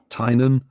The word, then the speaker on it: Tainan: This will be very, very short because it's just the announcement of another City Safari coming to, what's the pronunciation of this place? Tainan? Tainan in Taiwan.